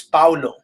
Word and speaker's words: Paulo: And, the teacher's like, she's trying to pronounce it because my name is not Pablo. It's not Paul. It's Paulo, right?